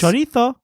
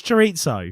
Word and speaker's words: chorizo: But what I find even more jarring is when people overpronounce foreign words. Yes. Chorizo. Fuck off, it's chorizo.